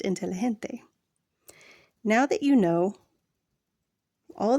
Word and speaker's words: inteligente: The letter G is pronounced H, as in hen, when it appears before E or I. Example, inteligente is pronounced inteligente.